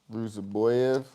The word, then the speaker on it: Rusaboyev: Rusaboyev. Oh, did I say it wrong? No, you got it right.